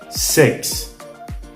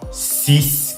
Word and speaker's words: six: ne se prononce pas sex donc ce n'est pas six comme en français ce n'est pas non